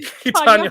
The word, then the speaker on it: Tonya: Deadline reported that the director of Cruella and Tonya, I always say Tanya it wrong. Harding. Tonya Harding.